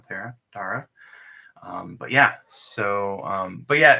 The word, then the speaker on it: Tara: I think it's pronounced Tara, right? Not Tara.